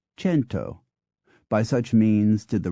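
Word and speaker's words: cento: take one example the the Latin Kum 100 began to be pronounced in various ways a fact reflected in the modern French c n t s Spanish c i n t o fento and Italian c n t o chento by such means did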